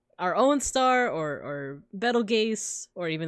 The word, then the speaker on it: Betelgeuse: Something like our own star, or Betelgeuse, or even that's supposed to be pronounced Beetlejuice.